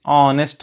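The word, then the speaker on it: honest: ही इज ऑनेस्ट मैन, तो यहाँ पर ए होगा या फिर एन होगा, ऑनेस्ट यानी कि एच साइलेंट है तो एन होगा, यहाँ पर भी एन ही होगा।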